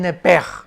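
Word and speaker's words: nepesh: pedro e s h la s h en el hebreo se pronuncia como j entonces se pronunciaría lepe lepe se le salió el nepe y en el versículo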